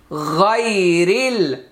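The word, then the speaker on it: غير: গয়নিয়া জবর গাই, র লাম জের রিল, গায়রিল গায়রিল, আলিফটা উচ্চারণে আসবে না।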